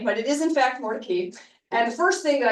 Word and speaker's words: Mordecai: I assumed it was Mordecai, which is what the more traditional sort of Hebrew pronunciation of this name, but it is in fact Mordecai.